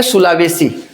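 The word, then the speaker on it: Sulawesi: सुलावेसी सेलेबेसी भी इसको बोलते हैं। सी से भी स्पेलिंग होता है सेलेबसी सेलेबेसी।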